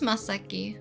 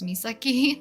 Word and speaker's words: Masaki: I feel like sometimes I pronounce his name quickly, so people think his name is Misaki, not Masaki. It's like a ah for the A uh noise, I guess.